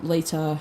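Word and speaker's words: Leta: channel i interviewed um lita and she l-e-t-a lead up her name is um but i sometimes say because that's how we do it in australia sorry about that officer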